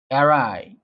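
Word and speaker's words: awry: toil কিন্তু তাদের পরিশ্রম এরাই এটার উচ্চারণ হচ্ছে এরাই গো এরাই গো দেয়ার টয়েল টয়েল হল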